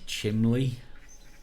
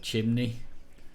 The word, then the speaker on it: chimney: Yeah, another one that really annoys me around here is chimley. Oh. Instead of chimney.